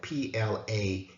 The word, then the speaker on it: Plaman: sister as children, and their last name was spelled Plaman, like plumbing. So it's clear that the pronunciation of the last name was different than what we knew it to be, far different from Fleming.